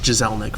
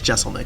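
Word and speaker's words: Jeselnik: a couple different ways I thought it was jezel Nick for a long time and but he says Jessel Nick so I I assume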